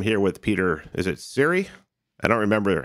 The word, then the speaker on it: Csere: how we pronounce it it's not the correct pronunciation but that's how we say it my family what's funny is I